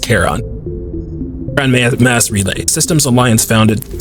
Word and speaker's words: Charon: Translation of Prothean data leads humans to it's Charon. No, it's Charon. It's a Greek area across the river Styx, I know, but I think it's pronounced Charon.